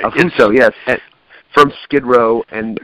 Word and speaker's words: Affuso: I'm pronouncing that right. Right. Affuso, yes.